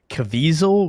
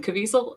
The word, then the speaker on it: Caviezel: It's like Caviezel, right? I think it's Jim Caviezel. Jim Caviezel sounds like a weasel. That's how we're saying it. Yeah. Jim Caviezel sounds like a weasel.